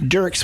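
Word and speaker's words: Dierk's: Dirk's, which is it's funny because it's spelled Dierk.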